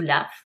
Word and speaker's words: laugh: Alors je précise que dans ce verbe, vous ne prononcez pas le U et le GH se prononce comme la lettre F, hein, donc on dit to laugh.